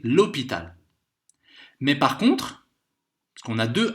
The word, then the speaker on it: l'hôpital: Et c'est la même chose avec le H muet. On va dire l'hôpital, directement. H muet, c'est comme s'il n'y avait pas de H. Donc c'est l'hôpital.